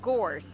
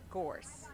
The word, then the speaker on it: Gorse: It's Gorse. It rhymes with horse. Gorse.